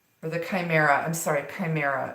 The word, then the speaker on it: chimera: so why is the stator here with this Chimaira for the Chimera I'm sorry chimera it's pronounced rough foolery and indulgence imagination clouds are